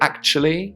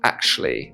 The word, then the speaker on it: actually: So I say actually with a ch sound, but some people might say actually with a sh sound.